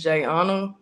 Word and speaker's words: Jai: at first um my my name name is jna so it is spelled j Ai and everybody always you know of course calls me J but I spelled it